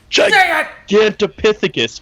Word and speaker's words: Gigantopithecus: Well, I think, wasn't it Gigantopithecus? Thank you, Gigantopithecus. Say it, say it right now. Gigantopithecus.